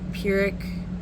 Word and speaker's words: Pyrrhic: In case you don't know how to spell that, when I say that word, it's Pyrrhic victory.